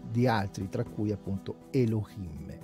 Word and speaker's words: Elohim: Siccome non si dice Elohim, si dice Elohim o Elohim, perché poi c'è anche una regola che dice che la He, tutto sommato, è muta, quindi a seconda di come